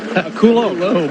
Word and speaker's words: Coulombe: It's Danny, how do you pronounce it? Coulombe.